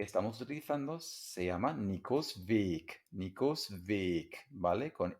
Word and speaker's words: weg: Esta palabra, cuando se escribe con minúscula, se pronuncia weg y significa algo como se fue o ya no está, desaparecido, ausente, ¿vale?